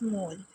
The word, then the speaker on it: mol: इट is abbreviated as मोल, मतलब इसको हम किस तरह से प्रोनाउंस करते हैं? मोल से, MOL मोल। ठीक है, अगर हमने इसको लिखना है तो MOL मोल लिखना है।